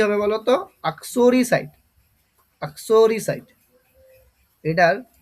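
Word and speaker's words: uxoricide: আসো ইউ এক্স ও আসো আক রি আর আই রি আসরি সি আইডি সাইট আসরিসাইট প্রনান্সিয়েশনটা বুঝতে পারলে কি হবে বলতো আসরিসাইট আসরিসাইট এটার উচ্চারণটা হবে আসরিসা আসরি সাইট আচ্ছা এ পার্টনার ইন ক্রাইম।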